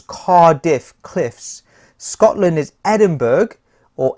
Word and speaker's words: Edinburgh: Scotland is Edinburgh, or Edinburgh. I like to call it Edinburgh to help me memorize that it's like an iceberg.